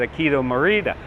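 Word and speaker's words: Akio Morita: uh trans transistor I I'm probably going to mispronounce his name but I think it's said aido Marita we know him as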